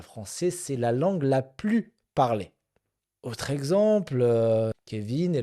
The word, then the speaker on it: plus: En français, euh on ne prononce pas le S quand on quand il s'agit du superlatif.